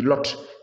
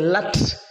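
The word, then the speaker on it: Lut: Bon, la Bible parle de Lot, hein, c'est la falsification qui dit Lot. Il ne s'appelle pas Lot. Le vrai nom, la véritable prononciation, c'est Lat.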